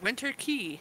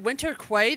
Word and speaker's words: Winter Quay: I called it Winter Quay the entire time until they finally said it was Winter Key, and I was like, oh.